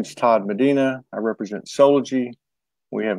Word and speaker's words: Medina: up in Ohio it's Medina right happy no hot yeah yeah that's how they pronounce that's how they pronounce it in the Upper Midwest hello Trinity Unified okay